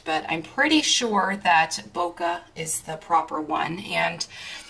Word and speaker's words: bokeh: because i've heard so many different ways of pronouncing it but i'm pretty sure that boca is the proper one and for those of